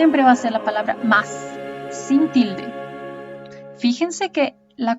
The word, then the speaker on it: mais: agregamos una y y no se dice maíz no es maíz porque el maíz no existe en portugués más la palabra maíz se dice más con la sílaba tónica en la primera es la sílaba tónica o sea recae en el maíz no os voy a